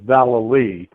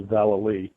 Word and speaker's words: Vallely: just wanted to say the pronunciation of my last name is Val so I just wanted to make sure that uh uh everybody knew it's Val but uh thank you